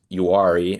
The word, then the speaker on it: Uwharrie: Yeah, so they're from the directional for them is Uwharrie, and that's a mountain range east of Charlotte.